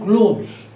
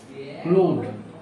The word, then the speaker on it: cloth: ক্লথ আর ক্লোথস, এটা উচ্চারণ হয় ক্লথ, এটা ক্লোথ হয় না, ক্লথ।